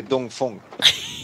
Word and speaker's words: Dongfeng: why you say in in China we say d Fong but and when you read it in the English it's D Fang I think that's hence the all the confusion online D Fong yeah it's D no